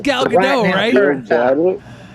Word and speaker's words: Gal Gadot: __ ] movie gayle got it he needs gal gadot he means gal gadot or gal gadot how do you pronounce it gal gadot i say definitely be